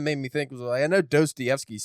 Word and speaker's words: Dostoevsky: But it's funny because it's like, well, why do we pronounce it Dostoevsky when it's still not close to what it originally is in Russian anyway? So it's like, why do